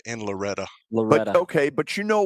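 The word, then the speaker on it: Loretto: They pronounce it Loretta in Loretta.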